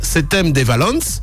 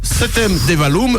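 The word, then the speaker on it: Septèmes-les-Vallons: Septem-les-Vallons, je précise en occitan provençal, bien sûr ça se prononce Septem-des-Valons ou Septem-des-Vallum selon la norme mistralienne.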